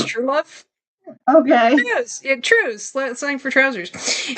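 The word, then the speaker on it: Trewlove: As owner of the Elysium Club, which caters to women's fantasies, Aiden Truelove, but it's spelled Trew, like slang for trousers, but it's Truelove.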